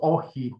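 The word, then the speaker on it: Όχι: occupy the country, and he answered monosyllabically, well, two syllables, OXI, with one word.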